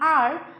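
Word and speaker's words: hour: इट is because the letter H is silent in आर which actually starts with the sound of ओ।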